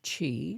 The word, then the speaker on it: qi: So, so we know that there's this stuff called chi, which is spelled Qi, and we usually translate it as energy.